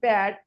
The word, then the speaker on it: pat: For example, pat, top, and keel. They are the aspirated because they are pronounced with an accompanying forceful expulsion of air.